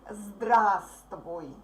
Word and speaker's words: здравствуй: It's written like здравствуй, but we pronounce it like здравствуй.